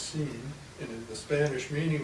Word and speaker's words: sin: Just follow that when I see the word sin in Spanish that's pronounced seen and in the Spanish meaning of that is without.